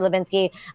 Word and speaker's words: Hlebinsky: in my versatile Wow the H is silent huh alright thank you